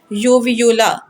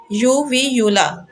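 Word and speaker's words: uvula: बोल बोला जाता है यूवी यूला यूवी यूला ठीक है यूवी यूला उसके स्पैल होते हैं यूवी यू एल ए और इसको फुली इसी तरह प्रोनाउंस करते हैं यू व यूला यूवी यूला और ये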